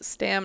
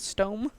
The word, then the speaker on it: Stam: to find sam my name is stam not stone stone stom what were